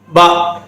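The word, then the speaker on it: ب: அடுத்தது பா, பா இதை நீட்டு சொல்லக்கூடாது. பா என்று நீட்ட கூடாது.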